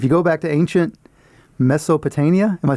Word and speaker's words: Mesopotamia: this word because it's got more than three syllables. If you go back to ancient Mesopotamia, am I saying that right? Yeah. Mesopotamia.